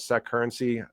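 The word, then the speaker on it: Securrency: DTCC acquired a company called SEC currency. I always call it SEC currency if it's mispronouncing that.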